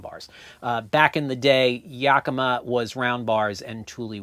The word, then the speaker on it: Yakima: I spent a great deal of my life dealing with roof racks, and years ago, Thule and Yakima, that's how you pronounce both of those companies' names, Thule and Yakima decided